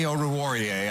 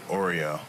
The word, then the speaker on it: Oruwariye: I've heard someone legitimately say Oreo. And I was just like, that doesn't even look remotely close. Doesn't even sound right.